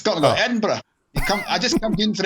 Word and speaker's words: Edinburgh: Yeah, and it's pronounced Edinburgh, right? Close. Oh. Close. Yeah, I tried. It's not Edinburgh. It's more like bruh at the end. Ah, okay. Hey, bruh. It's more like that. So Edinburgh.